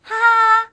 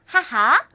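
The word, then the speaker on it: はは: 어떻게 발음한다고요 치치 치치 자 엄마는 어떻게 한다고요 하하 하하 자 그다음에 뭐 나는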